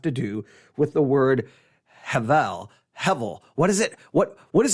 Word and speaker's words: Hebel: It's an image for the Hebrew word Hevel. Hevel, spelled Hebel, but with the B pronounced as a V.